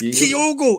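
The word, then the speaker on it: Kyogo: could for how to pronounce it how did pronounce it I've never heard it Keo it's kogo everyone knows that you me be a Celtic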